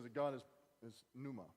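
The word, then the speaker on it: pneuma: that God has his numa numa actually if you want to pronounce the PI the P that's what he is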